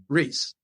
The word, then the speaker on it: Reis: So the Portuguese people will say Reis, and the name means king in Portuguese.